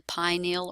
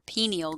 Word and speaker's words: pineal: up and that is the pineal or pineal gland. I've heard it pronounced both ways.